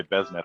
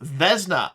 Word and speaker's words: Vesna: who you mean by Besneth, because no one's name is that. Wait, what? Did I get his name wrong? Yes. Hold V up. as in Victor. Oh, Vesna. I have you listed as Besna in the overlay right now.